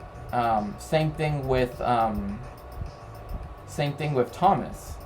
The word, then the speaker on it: Thomas: Same thing with Thomas, right? They put the H here to show that it's a hard T sound, not a soft one, so to speak.